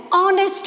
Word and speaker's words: honest: Because though H is there, but H is silent. We don't say honest. We don't say Raman is an honest man. No, we don't say. H is silent when we pronounce.